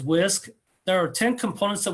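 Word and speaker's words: WSCC: And so the whisk whole school whole community whole child model um the as I said pronounced as whisk there are 10 components that we focus on and that's in the blue area.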